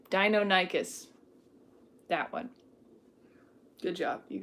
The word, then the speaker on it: Deinonychus: Deinonychus.